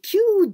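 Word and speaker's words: 九: And the first one, ki and you, kyu, and u, so this is a longer sound.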